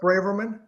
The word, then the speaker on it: Braverman: How do you pronounce the last name? Last name. My last name is Braverman.